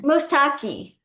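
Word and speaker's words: Mostaque: Um you know and Robin, you know EMAD, how you pronounce his last name? He wrote the last economy. Mustaki.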